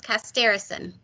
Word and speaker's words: Costerisan: Community Engagement for Mannan Costerisan. Hi, Sarah. Hi, thanks for having me. Did I pronounce it correctly? You are pretty darn close, Costerisan. Okay, thank you.